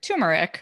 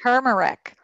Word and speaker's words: turmeric: who's listening to Andrea some people might pronounce it tumeric right generic yeah people say tumeric yeah yeah it's a perfect turmeric a lot of people